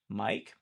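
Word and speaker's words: Miike: Um and then Tagashi Mike I think is how you say it's Mike but with two eyes.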